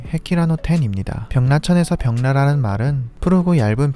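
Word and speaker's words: 碧羅の天: 일본어 발음으로는 헤키라노 텐입니다.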